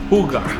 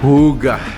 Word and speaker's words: Hygge: A trivia, so the way you pronounce it is Hygge. Hygge. Hygge. Pero yung spelling niya guys is Hygge. So it is a Danish word which translate to comfort, to stress-free life.